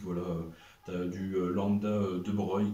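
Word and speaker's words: de Broglie: tu as du lambda de Brey qui s'écrit de Brogli d'ailleurs mais c'est bien de Breil et puis voilà puis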